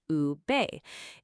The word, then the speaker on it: ube: That purple is a Filipino yam called ube, pronounced ube.